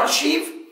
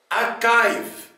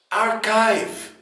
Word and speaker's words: archive: وهل فعلا بتتنطق زي كلمة أرشيف زي ما ناس كتيرة بتنطقها أرشيف؟ لا حبيب قلبي، تعال نسمع نطق كلمة أرشيف ونبدأ كالمعتاد بالبريتش أكسنت. جاهز؟ اسمع. أكايف أكايف أكايف. أما بالأمريكان أكسنت أركايف أركايف، مش أرشيف مش أرشيف، أركايف بالأمريكان.